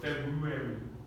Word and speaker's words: February: But in the a perfect English scheme, you would have to pronounce that very weird R after the B. So February. February. So it's not meant to be pronounced like January. It's meant to be pronounced really like with the R.